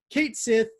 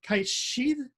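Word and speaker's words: Cat Sìth: Kate Sith, which, okay, is technically Kate Sheath, I believe is the proper Gaelic pronunciation, is a black cat,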